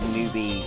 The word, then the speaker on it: Noobi3: when you read it because it's spelled with a three most people probably would call it newbie or newbie3 or new buy three or whatever yeah it's just pronounced newbie because I don't know